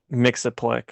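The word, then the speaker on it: Mxyzptlk: Mix-a-Plick.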